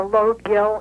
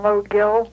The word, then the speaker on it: Lough Gill: Somebody told me that you have to go up near Sligo to Lough Gill and take a boat from Lough Gill. Lough Gill. Lough Gill, yeah.